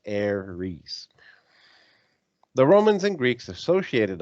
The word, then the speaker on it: Ares: war the greeks call the planet aries is pronounced heiress the romans and greeks associated a planet with